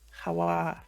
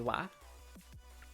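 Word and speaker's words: は: it's part of but by default it's ha and occasionally it'll be wah okay like you could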